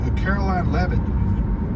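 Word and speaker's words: Karoline Leavitt: heard I'm I'm looking forward to hearing from Caroline leevan is that her name that's that's exactly how you pronounce it she's 27 years old and she's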